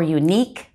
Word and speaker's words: unique: you like qatar or the you is silent like liquor or unique they're gonna have a difficult